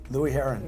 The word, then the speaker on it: Louie Herron: Louie Herron. Okay. You said it right. Louie Herron.